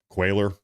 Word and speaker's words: Cuellar: It's pronounced Quailer. Apologies. I'm sorry, Henry and Imelda. I'm apologizing for mispronouncing your last name.